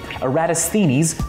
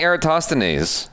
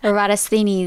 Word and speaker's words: Eratosthenes: In the 3rd century BC, Eratosthenes measured the difference... That's how you say his name? I've been saying Eratosthenes. Eratosthenes. Eratosthenes.